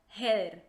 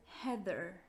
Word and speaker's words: Heather: risa porque yo yo Por ejemplo yo lo pronuncio como heeder porque todo el mundo le dice heeder entonces